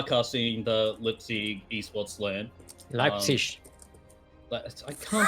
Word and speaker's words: Leipzig: Leipzig. I can't pronounce it. I am not German, you... Me neither. Leipzig? Leipzig? Leipzig. Leipzig. Wait, whoa. like light, but with a P. Leip. Yeah. Leipzig.